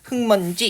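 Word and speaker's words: 흙먼지: 1차적으로 겹받침 리을 기억 나와 있기 때문에 자음군 단수나 탈락에 의해서 흑 이렇게 먼저 발음이 되고요. 그 다음에 비음 미음 앞에 기억이 비음 미음의 영향을 받아서 비음화 일어나가지고요. 최종적으로 흑먼지 이렇게 발음되는 거죠.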